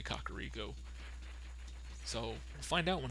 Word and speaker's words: Kakariko: I used to call it a Cario as a kid and then somebody told me I was wrong and it's actually a kakariko so we'll find out